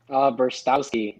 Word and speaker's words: Brztowski: Brztowski.